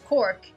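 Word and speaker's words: Corcaigh: when i realized that oh c-o-r-c-a-i-g-h is cork as in c-o-r-k i'm like ah neat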